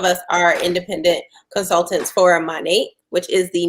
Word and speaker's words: Monat: So many people pronounce it in different ways. We hear all types of pronunciations for it, but I say Monat. I know people say Monet. It just depends on where you're at in the world, for real.